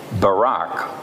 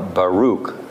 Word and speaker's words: Baruch: God gave him an assistant, a secretary, if you will, named Barak or Baruch, depending on how you want to pronounce it.